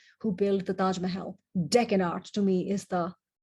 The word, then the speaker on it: Deccan: deccan meaning south because deccan is the anglicized pronunciation of duckkin or tokkin dakshin which means south in indian so the